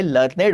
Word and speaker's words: learned: लर्नेड होता है कुछ, और लर्नेड भी नहीं होता, एक्चुअली लर्निड होता है, लर्निड।